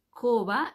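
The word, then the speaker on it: כובע: ponemos en la cabeza se dice cova coba es sombrero Cómo se escribe k de kilo o b larga a coba y es una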